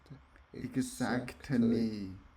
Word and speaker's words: exactly: Exactly. Exactly. You're 100% right. Ooh. Exactly. Okay. Exactly. Okay, the T is silent here.